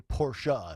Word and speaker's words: Porsche: had to tell me that Porsche is actually porsa it's two syllables yeah so I'm really